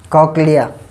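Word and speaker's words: cochlea: क्या नाम है इसका, कॉक्लिया, ठीक है ना. कई बच्चे और प्रोनाउंसिएशन करते होंगे इसका, वैसे ये क्या बोला जाता है, कोक्लिया बोला जाता है, ठीक है ना.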